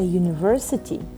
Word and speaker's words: university: But for example, a university, U sounds like a consonant.